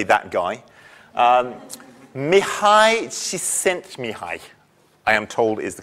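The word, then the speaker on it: Mihály Csíkszentmihályi: say that guy um mihai she sent me hi I am told is the correct pronunciation um it's a Hungarian name uh although he lives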